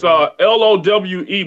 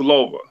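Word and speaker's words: Loewe: here today in Germany lava is up its Lowi but it's pronounced lava they were like Z before we started to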